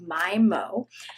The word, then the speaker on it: My/Mo: product by the brand I believe it's pronounced my mo it's mochi ice cream